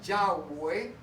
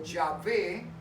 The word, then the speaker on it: Yahweh: Entonces, cuando llegaban allí, cuando llegaban a la Escritura para pronunciar el nombre de Dios, que ahora conocemos que más o menos puede sonar a Yahweh o Yahvé, ¿sí?